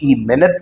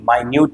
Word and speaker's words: minute: जैसे BOW, बाओ भी होता है, BOW वो भी होता है, MINUTE मिनट भी है, MINUTE माइन्यूट भी होता है।